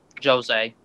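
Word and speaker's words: Jozea: So far, out of Glenn and Josiah, how do you pronounce his name? Jose.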